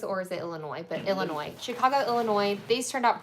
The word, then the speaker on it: Illinois: The S on the end is silent. Thank you. I've never know. I I'm like, is it Illinois or is it Illinois? But Illinois.